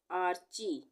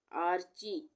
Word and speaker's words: आर्ची: Anaira Anaira आर्ची आरची यहां पर भी च से पहले र का आधे र का उच्चारण हो रहा है तो मात्रा के बाद यह रे की मात्रा लगेगी आधे र के लिए तो इसको हम क्या पढ़ेंगे आर्ची अनुकृति अनु और कृति